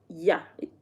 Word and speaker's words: ja: Um, so yes, in Dutch, uh, J is pronounced Y. So we spell Joan. In English you'd say Joan, but in Dutch it's yan. And in Dutch, yes is y. And that yah, they don't spell it y a.